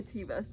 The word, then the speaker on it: Teva: Amazon biker shorts, always with the pockets, and my Tevas. Actually, I know that it's pronounced Teva. I just recently found this out, and I've been calling them Tevas for years, and I can't undo it.